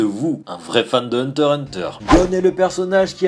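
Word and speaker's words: Hunter × Hunter: déjà cette anecdote mais le X d'Hunter Hunter ne se prononce pas je ne veux plus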